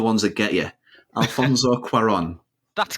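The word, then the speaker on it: Cuarón: go pronunciations it sounds like an easy neighbor pronounced but they're the ones that get you Alfonso quarron that's correctly yeah there we go so um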